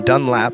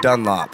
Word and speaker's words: Dunlap: My guest today is Dunlap. Is that how you pronounce it? Yes. Yeah. Okay. Not like the tire company with an Not A. Dunlop. No.